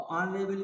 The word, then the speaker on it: honorable: तो ऑनरेबल को जब हम उच्चारण करते हैं तो आ आता है जो कि वावेल है, इसलिए इसमें एन आ जाएगा।